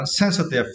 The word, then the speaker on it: sensitive: And for the next word, sensitive. For this word, you need to stress the first syllable, right?